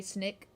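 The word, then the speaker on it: Snik: How would I pronounce Snick? S-I-N-S-N-I-K, Snick.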